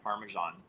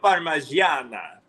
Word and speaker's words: parmigiana: So I'm going to say my favorite thing was actually the chicken parmesan. It was the same That's night not how that you pronounce it. Oh, yeah. Pollo parmigiana.